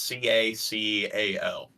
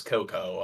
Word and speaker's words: cacao: from a tree is CACAO. Cacao. Yeah, I don't like I don't like that. I don't like how it's cacao. People will pronounce it as cocoa.